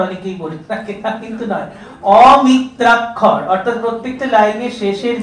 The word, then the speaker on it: অমিত্রাক্ষর: এবং মাইকেল মধুসূদন দত্ত যে অমিত্রাক্ষর ছন্দের অমিত্রাক্ষর এটা অনেকেই উচ্চারণটা ভুল ভীষণ কানে আসে। অমৃতাক্ষর অনেকেই বলে কিন্তু নয়। অমিত্রাক্ষর অর্থাৎ প্রত্যেকটা লাইনের শেষের যে অক্ষরের মিত্রতা সেটা স্থাপিত হচ্ছে না।